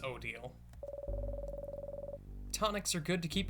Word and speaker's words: Odile: Okay, so it is pronounced Odile.